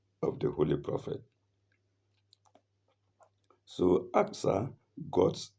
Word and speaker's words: Aqsa: And that is Al Aqsa mosque, the proper pronunciation being Aqsa, Al-Aqsa Mosque, Masjid al-Aqsa.